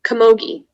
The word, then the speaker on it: camogie: kamogi um kamogi um are there any alternate pronunciations just the one komogi okay kamogi um kamogi um komogi is it